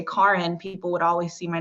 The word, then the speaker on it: Kären: the eggs that's because my name is actually pronounced karen your face well they actually they've always pronounced it that way my mom her first language is french so it is pronounced a little bit differently when she says it and then very